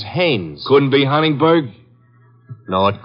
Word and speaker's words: Haines: say his name is haynes h-a-i-n-e-s well as your fellow named heinz used to fish no no not heinz haynes couldn't be hummingbird no